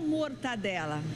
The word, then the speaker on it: mortadela: olha só mortadela ou mortadela bom de acordo com o dicionário a pronúncia correta é mortadela mas vamos deixar isso